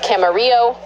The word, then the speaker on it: Camarillo: It's Camarillo. Thank you. You said you could pronounce it okay.